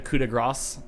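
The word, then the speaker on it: coup de grâce: Do you pronounce the end of it like the coup de grace? The S is silent.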